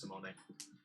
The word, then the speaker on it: Simone: So Doig and I have a mutual friend whose name is spelled like Simone, but he's Italian. It's Simone.